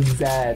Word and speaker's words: zed: the way Union why do you guys say Zed instead of me because that's the correct way to pronounce it yes you ever need that just